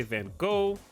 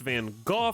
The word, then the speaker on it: Van Gogh: say it differently and Dutch pronounce it with the guttural sound everyone's some people say gok Americans like me typically say Van Gogh then you see other